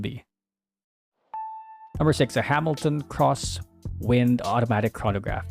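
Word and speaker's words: X-Wind: number six a Hamilton cross wind automatic chronograph yes it's pronounced as cross not X anyway oh I have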